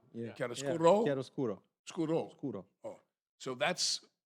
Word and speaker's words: chiaroscuro: And he's known, how do you say, chiaroscuro? Yeah. Chiaroscuro? Chiaroscuro.